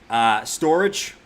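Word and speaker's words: Storj: Storage. Storage J. It's pronounced storage. No, I'm gonna call it Storage J. That's what I've always called it, man.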